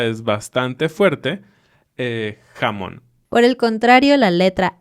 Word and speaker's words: jamón: una Y y dicen llamón. Jamás. Siempre la J es un sonido de la garganta.